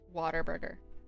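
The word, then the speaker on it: Whataburger: Maybe it's just an accent thing of water burger. Yeah. What a burger. But pronounce it waterburger.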